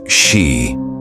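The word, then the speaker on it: し: The number 4 in Japanese is pronounced shi, the same word for death.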